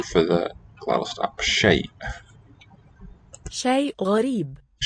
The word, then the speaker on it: شيء: Shay, with the final glottal.